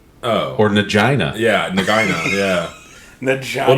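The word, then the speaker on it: Nagaina: No, Nagina. Oh. Or Nagina.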